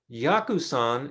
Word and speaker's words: Yakusan: takes the high seat yakusan is the uh if you look at the chinese characters for yakuzan this is a of course the japanese japanese way of pronouncing chinese yaku yaku means medicine